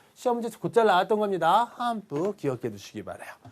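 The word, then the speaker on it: 頒布: 그래서 이 시험 요강에 대한 어떤 그 반포를 그 안내하겠습니다라는 건데요. 이거 반자를 어떻게 읽느냐래요. 반자. 이거는 한이라고 일단 읽어주시고요. 포자는 뿌예요. 그래서 이건 시험 문제 아주 곧잘 나왔던 겁니다. 한뿌라고 읽어주시면 돼요.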